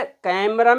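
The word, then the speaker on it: camera: देखिए कैमरा बोलते हैं कैमरा जब हम कैमरा बोलेंगे तो सबसे पहले कैमरा में कै को हम देर तक प्रोनाउंस करेंगे। फिर दूसरा पार्ट है एम ई म इसमें स्ट्रेस नहीं देंगे। एकदम बोल देंगे। आ रे रा इसको भी एकदम बोल देंगे। तो देखिएगा सुनिएगा मेरी तरफ देखिएगा। कैमरा कैमरा कैमरा मतलब कै पर हम जोर देंगे। पहले वाले पार्ट पर जोर देंगे।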